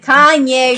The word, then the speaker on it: Kanye: Kane West, I don't know, how do you pronounce that guy's name? Kanye West.